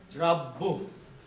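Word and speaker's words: رَبُّ: So this actual word is rabbu. If you just say rab, there is no word like rab. Okay? The actual word is rabbu. Okay? You have to pronounce ba at least twice with your tongue.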